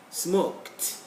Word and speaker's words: smoked: There is K-E-D. It should be pronounced as kt, kt, kt. So, ink, inked, smoke, smoked. You see, this E is not audible. It's not pronounceable. So we stick to the final sound, which is K, and so we get smoked, picked, like that.